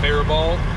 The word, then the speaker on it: Faribault: I gotta go to Faribault, apparently is how you say it, Faribault. Everybody from Faribault says Faribault, but somebody commented and said it's Faribault, so I don't know.